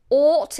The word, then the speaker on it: ought: This G is silent and the H is silent and it's just a T. Ought. Ooh. Ought. It actually sounds like it's spelt like this.